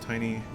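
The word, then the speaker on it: Tinie: it's Gloucester sorry uh tiny pronounced tiny tiny Tempa actually collaborat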